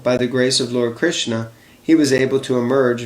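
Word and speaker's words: Krishnaa: It's Krishna, because Draupadi's other name is Krishna, with a long A at the end. Not Krishna, but Krishna.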